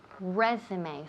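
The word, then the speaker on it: résumé: c b okay capital letters we say resume resume so pay attention here to the pronunciation because i hear this word machacada right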